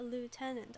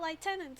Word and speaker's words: lieutenant: of things according to the Oxford dictionary it's pronounced a lieutenant oh I've been saying it wrong this whole time it's not liutenant it's Lieutenant okay fixed I I'll remember that